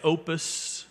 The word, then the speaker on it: Popus: front of it it's p o p us Management Group Inc how do you pronounce that anyone know p o p u s the p is silent Opus Management Group Inc